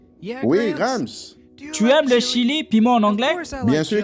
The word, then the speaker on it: Chili: Oh Happy, c'est le mauvais chili. Ce n'est pas de ça que je parle. Je parle du pays. Ça se prononce Chili. C'est en Amérique du Sud.